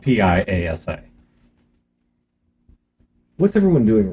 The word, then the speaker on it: Piasa: Piasa. Spelled Piasa, but pronounced like pie, like with cherry pie. A, or and then saw, like sawwood. So Piasa. It's spelled Piasa.